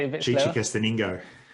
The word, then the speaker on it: Chichicastenango: Chichicastenango. Chichicastenango.